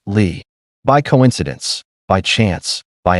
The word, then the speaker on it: Li: The emperor's family name was Lee, spelled li, pronounced Lee, by coincidence, by chance, by accident.